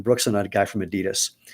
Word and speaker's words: Adidas: and a guy from Adidas or Adidas if you actually want to be obnoxious and pronounce it correctly because it was Audi Dler.